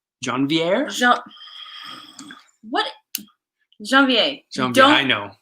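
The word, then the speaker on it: janvier: coming out in a john viere john viere what jean vie i know don't pronounce the r i know you were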